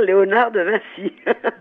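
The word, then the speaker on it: Vinci: françaises avec l'exposition de On peut dire encore Léonard de Vincy ou il faut prononcer autrement ? Non, faut dire non, il faut dire Léonard de Vincy.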